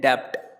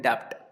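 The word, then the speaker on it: debt: तो ऋण को हम कहते हैं डेप्ट। ठीक, इसमें जो बी है ना ये साइलेंट होता है तो इसको हमें बहुत ही साइलेंटली पढ़ना होता है, इसको हम बोलते हैं डेप्ट।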